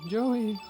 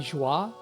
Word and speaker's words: Joey: They're calling my name, Joey. Supposed to become one of them. And they're mispronouncing it too. They're calling me Joie.